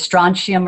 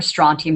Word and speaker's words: strontium: And strontium can be pronounced a couple of different ways, strontium or strontium, it doesn't matter.